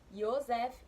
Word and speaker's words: Yosef: A revista traz uma informação que o nome José, ele vem do hebraico e ele significa não, a pronúncia é Yosef ou Yosef.